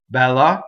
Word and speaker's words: Bella: so first thing is we have a double L so how we do a double L is that we hold the L in position while we our vocal cords are engaged so while we phone 8 right so that makes a double L Bella is a